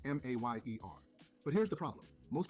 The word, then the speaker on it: Mayer: Oscar Mayer. The famous hot dog brand has a catchy jingle. My bologna has a first name, it's O-S-C-A-R. My bologna has a second name, it's M-A-Y-E-R.